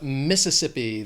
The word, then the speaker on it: Mississippi: Then we have Mississippi. This state has 4 syllables. The stress is on that 3rd syllable. That second one's just that schwa. Mississippi.